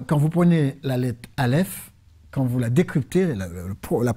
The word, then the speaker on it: Aleph: Et les Hébreux disent que c'est parce que Aleph est un mot silencieux. Vous savez, Aleph, si vous voulez le prononcer, vous ne faites pas comme en français. A, vous faites A. Vous le prononcez avec le souffle.